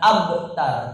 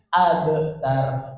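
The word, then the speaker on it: أبتر: ada ba ini mantul membacanya abtar Jadi bukan abtar tapi abtar abtar 2 t in siakau baik ini yang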